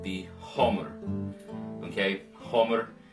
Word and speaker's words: hamr: called the Homer okay Homer sounds like hammer looks like hammer I'm using an old norse pronunciation of the word so Homer and the